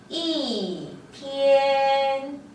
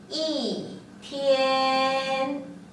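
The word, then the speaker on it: 一天: 이 뒤에 일성 또는 이성 또는 삼성이 결합을 했을 때 중국어의 이는요. 이 이렇게 오에서 1까지 뚝 떨어져서 사성으로 발음을 해보겠습니다. 자, 예를 들어볼게요. 하루라는 뜻이에요. 하루라는 뜻인데요. 실제로는 쓰면 이렇게 쓰지만 발음을 할 때는 사성으로 읽어줍니다.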